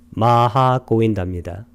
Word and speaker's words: 마하 고윈다: 그래서 이분의 이름이 이 경의 제목인 마하 고윈다입니다. 빨리어로는 마하 길게 발음하고 하를 고윈다 오하고 에는 장음으로 발음합니다. 마하 고윈다입니다.